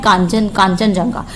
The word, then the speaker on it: कंचनजंगा: India और नेपाल को जो कनेक्ट करता है उसको बोलते हैं कांचनजंगा। कंचनजंगा भी बोलते हैं, कांचनजंगा भी बोलते हैं।